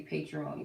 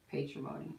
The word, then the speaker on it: patrimony: The Will, Retribution, and the Patrimony card. If I'm pronouncing that right. It's like matrimony, but patrimony. Yeah, patrimony.